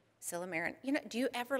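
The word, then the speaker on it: silymarin: he's given me the thumbs up okay so silomerin is extract of milk thistle and when you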